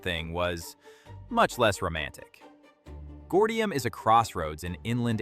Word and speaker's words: Gordium: Take Gordium, pronounced Gordium.